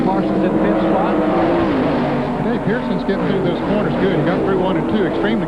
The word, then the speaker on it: Pearson: No, he had to back off, but that was a big advantage for Larry Pearson.